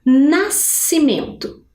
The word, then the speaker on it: nascimento: Como será que eu posso separar nascimento? Apesar do som ser único, eu preciso respeitar a regra.